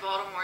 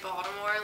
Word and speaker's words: Baltimore: Well, first, I already told you this, that people from Baltimore say Baltimore like it's spelled with a D, but everyone else that's not from the area says Baltimore, and I don't think I've ever said Baltimore.